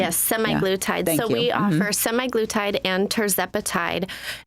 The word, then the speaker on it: semaglutide: bit about slim Therapeutics and semaglutide if I'm pronouncing that correctly yes semi glutide so we offer semi glutide and tepati and